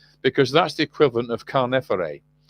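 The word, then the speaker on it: Khaneferre: Now, Carnefere is the way we Egyptologists pronounce these Egyptian names. It's not actually how they sounded, but it's the way we actually we use them when we're talking to each other.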